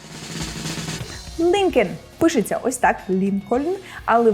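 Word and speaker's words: Lincoln: так і назва парку правильно вимовляється як linkн пишеться ось так НН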